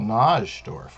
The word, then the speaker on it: Najdorf: It's spelled Najdorf, right?